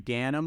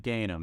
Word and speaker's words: Ganim: your host Nick shuket today we have ganham on the call or is it gainham how do you pronounce that again okay you nailed it